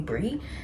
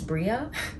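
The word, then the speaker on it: Brea: I think since I moved to the US, anytime people see B-R-E-A, they just call me Brie. And then I have to tell them that it's Bria. You do pronounce the A. The A is not silent. It's not optional.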